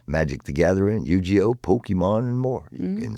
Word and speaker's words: Yu-Gi-Oh!: It's Yu-Gi-Oh! Oh, it's Yu-Gi-Oh? Yu-Gi-Oh! Yu-Gi-Oh! Yeah, Okay. Yep, it's a hard G.